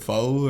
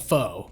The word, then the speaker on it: pho: And then we can go to the, what is it, pho or? Pho? Pho? I don't know. I've heard the argument. It's not pho, P-H-O. It's pho.